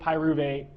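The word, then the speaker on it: pyruvate: So, uh we have alanine is converted into pyuvate and aspartate is made into oxalloacetate. Okay. So, try to sound those out. So, alanine alanine three syllables. Pyuvate three syllables.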